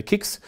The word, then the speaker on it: CICS: In Germany, normally we say KICS.